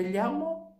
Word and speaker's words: llamo: Olha que interessante, em espanhol a gente tem isso daqui que é uma letra, que é o LL. E eu posso pronunciar como LH.